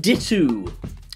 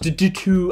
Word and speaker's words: Ditoo: this is the davoom dittu cue the people in the comments section telling me that it's pronounced due to i don't care it's